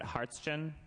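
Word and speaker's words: Hartschen: e n correct and what's the pronunciation is it harsin yes okay yeah I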